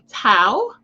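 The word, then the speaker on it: Thao: so i did confirm the pronunciation is j alexander king and tal tao they were convicted on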